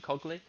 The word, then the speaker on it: Incogly: We're going to look at a project that you work on, Incogly. Am I pronouncing that right? Incogly.